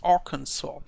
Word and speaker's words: Arkansas: And I'm not so sure whether I pronounce it correctly, this Arkansas.